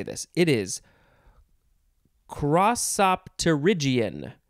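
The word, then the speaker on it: crossopterygian: word how do we say this it is crossopterygion crosopderigion is this great word uh it is spelled c r o s s o p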